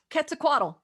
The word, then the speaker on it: Quetzalcoatl: Quetzalcoatl. That is correct. Yes. It is a ket sound, not a quet.